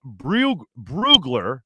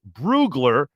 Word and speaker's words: Brugler: in the nfl uh dane broogler is how you say his name dane brugler that's how you say it uh said that the